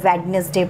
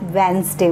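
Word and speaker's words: Wednesday: लोग क्या करते हैं, इसको वेडनेसडे प्रोनाउंस करते हैं. That is wrong. लाइक यहाँ पे जो हमारे पास डी वर्ड है that is silent. Okay silent है तो आप वेंसडे बोलेंगे.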